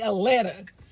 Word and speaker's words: Atlanta: here the a right you can say a l a n a Atlanta welcome to driving wild